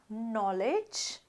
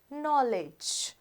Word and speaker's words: knowledge: again when you say knowledge k sound is not pronounced knowledge skate this is heard